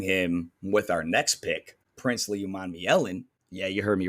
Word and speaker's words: Princely Umanmielen: edge, especially pairing him with our next pick, Princely Umanmielen.